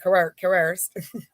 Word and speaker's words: coerced: Basically, like, "I'm here with you," and so she was basically like slightly coerced, that's how you pronounce that word, coerced into having a relationship with him, and.